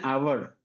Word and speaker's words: hour: See an hour. H O I O U. H is not there. But in the pronunciation H is not coming. Only O is coming.